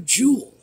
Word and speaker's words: jewel: they're referring to a jewel they're again one syllable Jewel I don't know okay